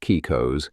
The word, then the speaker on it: Caicos: A kaikos pronounced kikos is simply one bead on that string.